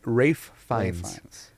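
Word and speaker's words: Ralph Fiennes: guy Voldemort actor uh Ralph fees Rafe fees it's not pronounced Ralph isn't that funny I was always like Ralph fines or something Rafe fines is his name okay yeah yeah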